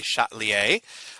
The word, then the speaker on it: Le Chatelier: they shot a lire or something but it's pronounced with a shot Li a and the shot liaison suppose says this if